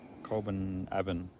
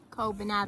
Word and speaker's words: Colbinabbin: We are in the place that I always pronounce wrong. Colbinabbin. Colbinabbin. Yeah, I normally say Colbinabbin.